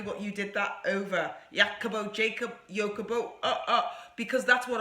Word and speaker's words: Jacopo: It's Italian. It's Jacopo. It's like Jacob O. Jacopo. And the reason why it's, I did want a name that people would do exactly what you did that over. Jacopo, Jacob, Jacopo.